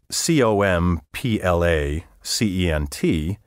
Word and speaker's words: complaisant: Complacent, spelled C-O-M-P-L-A-C-E-N-T, and complaisant, spelled C-O-M-P-L-A-I-S-A-N-T, should be distinguished in spelling, pronunciation, and meaning. Complacent, with a Z sound in the final syllable, means inclined to please, gracious, obliging, courteous, affable, urbane.